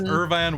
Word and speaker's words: Irvine: no it's it's great it's irvine wastewalker thank you everyone's been saying it wrong it through me irvine